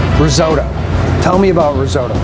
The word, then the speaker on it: risotto: So when we're talking about risotto, all right, or risotto, which is actually how it's pronounced, but nobody says that.